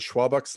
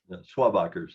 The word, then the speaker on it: Schwabacher: There are is it Schwabach's Landing? Am I pronouncing that correctly? Schwabachers, yes.